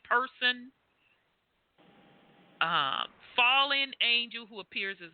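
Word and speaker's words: Purson: So person, P-U-R-S-O-N. Isn't that close to the pronunciation? Person.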